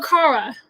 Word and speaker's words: Kara: Kara or Kara? Kara. Kara. Okay, cool, yo. I've been mispronouncing it for years. Okay. Oh, that's okay. I mean, a lot of people say Kara too, so they're both great.